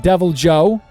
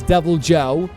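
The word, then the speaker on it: Deviljho: Devil Joe. I thought the J was silent. Bro, I'm probably pronouncing all these wrongs. Devil Joe.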